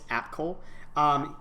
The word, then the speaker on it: Apcol: I'm sorry, I forgot how you pronounced it. It's Apcol.